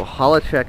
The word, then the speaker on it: Hollich: yeah check it out so hollich is the correct pronunciation holl okay nobody's pronounced